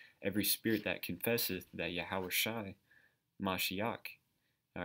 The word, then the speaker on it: Yahweh: the most high every spirit that confesseth that yahweh all right that's how you say it in